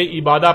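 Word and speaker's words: عبادة: لکھا جاتا ہے عبادہ، اور جب عربی لہجے میں اس لفظ کو پڑھا جاتا ہے تو تیز ساکت ہو کر ہے کی آواز میں بدل جاتی ہے، یعنی اسے عبادہ پڑھا یا بولا جائے گا۔ عربی کا لفظ عبادہ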